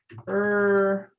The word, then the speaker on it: early: And la pronunciación es como early. Early. Really, Oh, that's really. Uh-huh. really. Pero sin el sonido de R al principio.